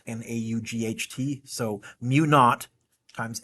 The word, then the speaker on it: mu naught: a zero n times I over l we pronounce that mu naught because the Brits named it zero in Britain is not an a-u-g-h-t so mu naught times n times I over L what is